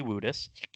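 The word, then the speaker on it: Woodus: is spelled WOD us it's spelled like would us but we've had many conversations over the year it's definitely wouldest um there's a button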